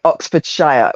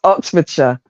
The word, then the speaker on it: Oxfordshire: um when you're um like Oxfordshire you guys would say Oxfordshire we no no we don't say that it's Oxfordshire or even oh Charis